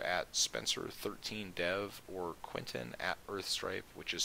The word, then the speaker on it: Urthstrype: You can also join the clan on Magic Online by messaging Spencer at Spencer13Dev or Quentin at Earthstripe, which is spelled URTHSTRYPE.